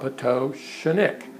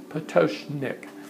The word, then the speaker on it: Pototschnik: But, you know, a simple way to remember it for you all would be to think of it phonetically. If you think of the author Edgar Allan Poe, and then think of your toe, and then sh and nick, and you put all that together, it comes out Pototschnik, Pototschnik.